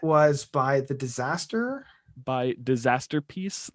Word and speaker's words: Disasterpeace: by the disaster by disaster peace like uh masterpiece like masterpiece but with disaster peace yes and peace is spelled like peace on earth peace it's a little ah